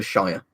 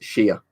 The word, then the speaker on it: shire: know all those ones you never say the Shire it's sheer so so you know this is Oxfordshire you say it like she am NOT Shire basically like you're shearing sheep yeah what's this year mm-hm